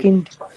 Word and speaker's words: Kind: Kind. But how do you pronounce the word kind? Kind. Was Kind. Yeah. With T sound.